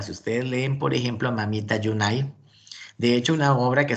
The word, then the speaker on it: Mamita Yunai: el mamita yunai y porque se llama mamita yunai precisamente para hacer alusión layún ayer a la compañía bananera y una compra pero era en la forma como los trabajadores pronuncian el nombre de la de la compañía la united sean los trabajadores entonces